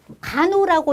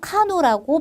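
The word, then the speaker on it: Kano: 그래서 우리 간호라고 읽어도 되고요. 카노라고 발음하셔도 됩니다.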